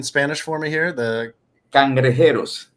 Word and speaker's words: Cangrejeros: Can you pronounce the name in Spanish for me here? The Cangrejeros. Cangrejeros, perfect.